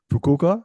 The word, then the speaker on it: Fukuoka: Fukuoka, is that how you Yes, pronounce it? yeah, Um, Fukuoka, yeah.